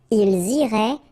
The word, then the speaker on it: ils iraient: Okay, so remember, make the liaison as well. You get this S and then the vowel after. So, ils iraient. And then if you look carefully, you get A-I-E-N-T. Okay? But then phonetically, it goes like E. Okay? So, technically, these form and these forms here are pronounced the same way.